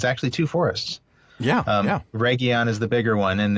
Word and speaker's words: Region: key of region yes it looks like the English word region it's not it's the Cinder in word regon um and that you